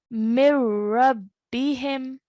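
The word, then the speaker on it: من ربهم: the noon sakin, and we are going to recite it as mir-rabbihim. Mir-rabbihim. Okay, so the noon sakin is removed.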